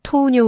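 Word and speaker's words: 糖尿: 토우뇨 우가. 아리마스 토우뇨는 당뇨병. 한국어 당뇨병이랑 발음 비슷.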